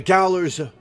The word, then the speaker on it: gaolers: The Gaolers... it's pronounced jail, right.